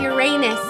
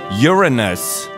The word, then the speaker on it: Uranus: people but alien people Uranus that's rude no it's pronounced Uranus oh Marty it's not have it's it's not about anus it's about urine it's Uranus so and